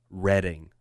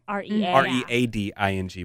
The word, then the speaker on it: Reading: And she says it's pronounced Reading. Red like the color. Okay. But it's written Reading. R-E-A-D-I-N-G.